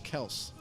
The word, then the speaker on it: Kelce: He goes, yeah, actually, my father, the real pronunciation is Travis Kels.